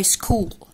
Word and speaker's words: school: الولاد لازم يبقوا عارفين ان CH دايما بتتنطق ch ch ch، انما في كلمة school بتتنطق k. يبقى CH هنا منطوقة ايه؟ k.